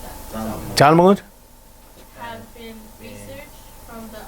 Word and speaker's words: Talmud: The following brief comments on the Talmud, how do you pronounce that? Talmud.